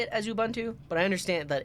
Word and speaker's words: Ubuntu: an African word and if you're pronouncing it uh the way it was meant to be pronounced in their language than it is um Ubuntu not Ubuntu how do you pronounce